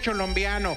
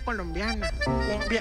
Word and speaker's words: colombiana: Me dijeron que usted sabe bailar cholombiano, pero nosotros también tenemos a alguien que baila cholombiano. Compa, no se dice cholombiano. Entonces, ¿cómo es se dice? Cumbia colombiana. Cumbia colombiana.